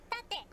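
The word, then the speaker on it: 縦: Yeah, you have to voice it exactly like that. So there you go. That is how to pronounce Tate. It's a Japanese word. It has nothing to do with the English.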